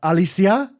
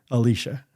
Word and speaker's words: Alicia: the Spanish version huh what Alysia Alysia Alysia I I didn't have heat I didn't have the heart to correct her so got about 3 months I for about three months I would be called the wrong name in there until someone that worked there longer called me one day and she heard them say my name correctly Alicia Alicia yeah taking a a